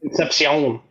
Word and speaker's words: Concepcion: Concepcion? Concepcion.